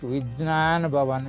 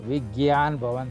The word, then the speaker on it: Vigyan Bhavan: It is because they found many people to pronounce the word correctly, something like Vijnan Bhavan is difficult to pronounce. So then Vigyan Bhavan they have made it.